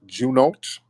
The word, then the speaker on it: Juno: get up Jun not Junot oh how am I pronouncing your name Jun oh what's upiq how's it going brother I'm good brother am I pronouncing your name right no it's Juno Juno yeah yeah so so um